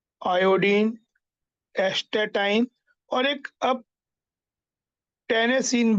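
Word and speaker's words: tennessine: Fluorine chlorine fluorine chlorine bromine iodine astatine और एक अब टेनेसिन भी कंफर्म हो चुका है।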